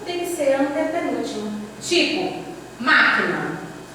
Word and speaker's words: máquina: Tipo, máquina. Chame a palavra máquina. Máquina. Você demora mais no má.